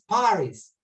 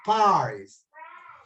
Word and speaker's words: Paris: París en inglés es Paris. Se escribe lo mismo, pero la pronunciación cambia el acento, ¿no verdad? No es en la I, sino más bien en la PA inicial, el acento en inglés.